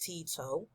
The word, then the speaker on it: Tito: president of Yugoslavia marshal Tito pronounced Tito was as crafty as